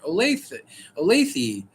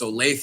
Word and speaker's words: Olathe: Like when I first moved here, I was like Olathe. And they said, no, it's Olathe.